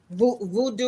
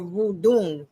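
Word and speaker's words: vodou: So, but to those, the same people that gave the name dreadlock, they're the same people who were afraid of voodoo or voodoo, really is how it's pronounced.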